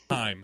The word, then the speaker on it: HAIM: It definitely is Haim. Haim.